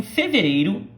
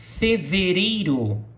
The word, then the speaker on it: fevereiro: So, em fevereiro, in February. Fevereiro. February, right? In. So, repeat after me. Em fevereiro. Now, attention to the pronunciation of the R's.